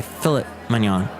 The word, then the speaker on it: filet mignon: scampi Lobster Thermidor and filet mignon or as the British say fillit mignon if we elaborate sorry